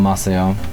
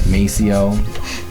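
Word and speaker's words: Maceió: was going, you know, Brazil, Masio, I pronounced it completely wrong, like Macio.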